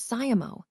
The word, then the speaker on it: siamo: Then there's siamo, which sounds like CAHMO. Here, the stress is on the second syllable, so be sure to emphasize that part.